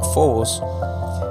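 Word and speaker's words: φόβος: En griego la palabra miedo que se pronuncia como fobos, está esta raíz griega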